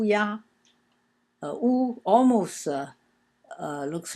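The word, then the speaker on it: 牙: That's pronounced ya.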